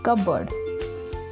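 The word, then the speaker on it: cupboard: Next is दीवार की अलमारी, इसे कबर्ड बोलते हैं, बहुत से लोग इसे गलत प्रोनाउंस करते हैं, बट इसकी करेक्ट प्रोनाउंसिएशन है कबर्ड।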